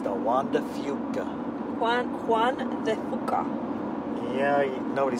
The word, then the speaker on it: Juan de Fuca: Spaniard so he's not Fuca god it's the Juan de Fuca one one yeah nobody says that here okay I mean Spanish pronunciation book today it's quite funny since it